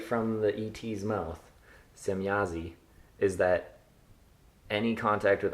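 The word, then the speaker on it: Semjase: Semyazi. So, okay, the J is silent in that one, but not in whatever their names are.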